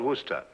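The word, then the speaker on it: Worcester: well Freddie causes something else too dark but it's spelled w-o-i-c-e-s-t-e-r we're a sister oh yes I see us Lord Wooster mm-hmm his mind be fit be hard tired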